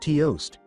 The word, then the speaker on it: toost: fingertip to beat you toost pronounced toost is a powerful and formidable opponent that you could never defeat why in hell are you named toost asked Naruto it sounds like toast well well letun begin